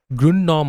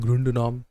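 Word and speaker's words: Grundnorm: हायरर्की of norms याद रखना वहां पे ग्रुंड नॉर्म आता है। ग्रुंड नॉर्म या तो कोई बहुत सारे बच्चे जो है कहते हैं ग्रंडनॉर्म। बहुत सारे कहते हैं ग्रुंड नॉर्म।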